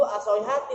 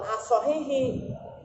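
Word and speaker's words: الصحيحة: Makanya situ as-sahihati bacanya. Ada tamar butonya. Bukan as-sahihi. As-sahihati.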